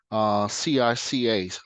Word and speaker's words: CICA: a company called Citizens, CICA. I pronounce it Cica.